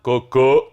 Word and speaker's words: cocô: Então coco não tem acento, mas cocô tem. Se for oxítona, cocô tem acento.